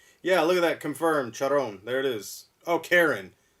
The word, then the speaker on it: Charon: kind of creepy yeah look at that confirmed charon there it is oh karen karen pronounced character c-h-a-r-o-n i always thought it was chrome but yeah it's pronounced karen thank you yeah billy billy did billy gave